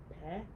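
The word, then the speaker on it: פּ: Instead of Fe, it'll be what? Pe? Yep. Meaning stays the same, shape stays the same, pronunciation changes.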